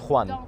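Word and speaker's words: Don Juan: Don but it's a it's a Spanish name actually so it's Donan Donan yeah so good so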